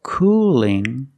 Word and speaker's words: cooling: Cool has a dark L at the end, but cooling has a light L. Do you hear the difference? Cool, cooling, cooling. Not cooling, but cooling. The tongue is straighter. The tongue is straighter and thinner.